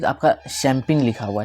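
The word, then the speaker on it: champagne: ठीक है, ये इसको हम पढ़ते हैं, जैसे हम इसको स्पेलिंग में लिखते हैं चंपाग्ने, है ना, यहाँ पे क्या लिखा हुआ है चंपाग्ने, और वाइन, लेकिन चंपाग्ने वो है नहीं, वो क्या है शैम्पेन है, ठीक है।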